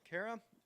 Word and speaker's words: Kara: show tonight is just to get to know Kara and to hope. Am I pronouncing that right? I should Yeah. have asked. Okay, No, Kara. you actually pronounced it right.